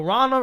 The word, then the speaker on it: Ronna: um so yeah sorry did I start calling her Ronald McDaniel I told you I was gonna do it no Rana Romney McDaniel okay let's say it right say it right uh